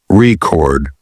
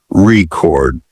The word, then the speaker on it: record: patterns like in English the word record is stressed on the first syllable as a noun record but on the second as a verb record making your pronunciation natural